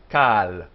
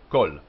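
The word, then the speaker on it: כָּל: This word, when it stands by itself, is pronounced kal, kal. But when it's joined in, like this, and loses its accent, it becomes kol. Short, oh, kol. As opposed to kal.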